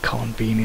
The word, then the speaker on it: konbini: Yeah, it's the con and convenience, and Konbini. but the vini is pronounced with the beanie. Konbini.